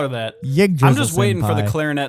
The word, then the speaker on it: Yggdrasil: It's Yggdrasil Senpai. Yggdrasil. Sherbert Yggdrasil. Yggdrasil, really? Her Yggdrasil, name yeah. is Yggdrasil, like the tree of life. Yggdrasil. The tree of life. We're gonna call her that. Yggdrasil I'm just waiting for the Senpai.